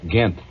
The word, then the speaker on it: Ghent: the the treaty of ghent that's spelled with a gh gint well uh this teacher